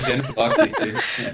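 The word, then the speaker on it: genius loci: A pronúncia correta em latim é Janus Locke.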